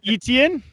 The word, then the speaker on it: Etienne: Travis Etienne. Etienne, yeah. Etienne. Is that he's a bruiser and Etienne's he's a home run hitter.